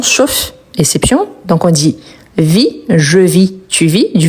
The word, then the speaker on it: vis: qui sont ici homopholes, c'est-à-dire que on les prononce de la même façon la plupart du temps, sauf la vis qu'on prononce le s car il s'agit d'un nom.